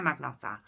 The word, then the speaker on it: Magnotta: to luca rocco magnotta i've already pronounced a couple of ways but we're saying magnusser so like i said 24